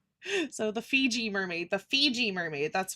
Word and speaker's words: Fiji: I'm just like, uh, Fiji mermaid. Fiji mermaid. Not Fuji mermaid. Why did I say Fuji? Maybe because I was thinking of Maybe I was thinking Fuji apples.